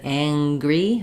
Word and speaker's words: angry: word like um um hanging I don't have a g sound in there it's just the NG sound but in angry or anger um I have the NG sound and a g sound Ang angry um yeah okay that's